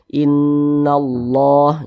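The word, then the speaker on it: إن الله: Nah, cara bacanya digunnahkan, suaranya kita tahan, kita panjangkan sejenak. Innallah begitu.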